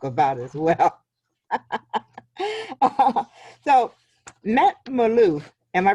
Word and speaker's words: Malouf: him to talk about as well so met Maloof am i pronouncing your name right yes millena thank you